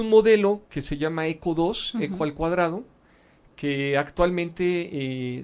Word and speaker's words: ECO2: ECO2, lo que pasa es que se escribe ECO al cuadrado, pero la mayoría siempre decimos ECO2.